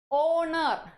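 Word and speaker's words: honour: ആ ഒരു ഉച്ചാരണമില്ല. അതുകൊണ്ട് യൂണിഫോമിന് മുന്നേ നമ്മൾ എന്ത് ചേർക്കണം? A uniform. Okay, A uniform. ഓണർ.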